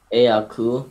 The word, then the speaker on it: Aakhu: Do I pronounce it Aku? Aku, yeah.